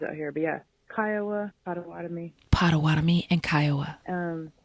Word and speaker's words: Potawatomi: Anyway, I was going to say, some of the pronunciation is Potawatomi. Potawatomi. We were saying Potawatomi.